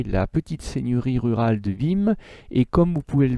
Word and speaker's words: Wismes: l'occident médiéval celle de vim alors vous voyez ça s'écrit wismes mais le est ce du milieu ne se prononcent pas la petite seigneurie rural de vim et à travers la